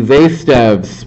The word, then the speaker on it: Zaitsev: They're actually writing his name out phonetically. This is how his name was actually spelled. It's Zaitsev, but pronounces Z with an S.